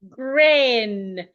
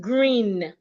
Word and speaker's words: grin: Grin, not green.